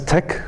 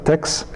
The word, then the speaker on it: TeX: how you pronounce this uh Tech so you pronounce it as Tech a lot of people tend to pronounce this uh pronounce it as text and then also the other one is late